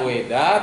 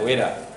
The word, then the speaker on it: Veda: Namanya Weda, tapi tulisannya Veda. Veda bacanya Weda.